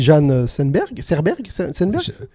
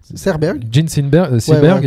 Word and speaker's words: Jean Seberg: Il y a aussi Jeanne Serberg. Jean Seberg. Tu prononces mieux.